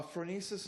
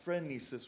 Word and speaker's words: phronesis: um mispronounced no um so uh phronesis is with the o not friend nieces with the e frenzy as opposed to phronesis p h thank you is there